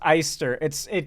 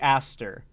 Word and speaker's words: Aster: There's no way it's pronounced Eister. I've always heard Ari Aster.